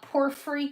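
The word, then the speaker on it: porphyry: Look, this is um this is West Germany and it is actually uh porefree glass is how they pronounce it.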